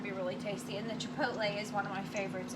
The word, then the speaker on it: chipotle: you could do if you didn't want the chipola chipotle chipotle and i still can't say it right chipot chipotle there it is now this makes a really